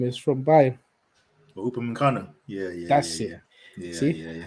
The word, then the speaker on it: Upamecano: Even that was it Uppermanchenko, whatever his name is, from Bayern. Upamecano.